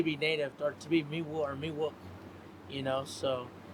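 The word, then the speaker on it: Miwok: And on the southern side, MIW OK, MIW UK, it's to each his own. But centrally recognizing us, Me-Wok, MEW UK is how we say it.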